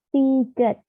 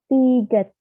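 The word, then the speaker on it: 디귿: Lalu ada tiget, tiget. Terkadang dibaca, sebenarnya dia huruf D, tapi terkadang dibaca seperti huruf T.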